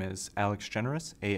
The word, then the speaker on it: Generous: my name is Alex generous a l e x g n r o u s just like the word any letters after your